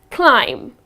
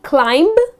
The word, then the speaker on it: climb: stairs so it's just climb again you are not going to pronounce the last be here it's not going to be climbed it's just gonna be climb all right that's the correct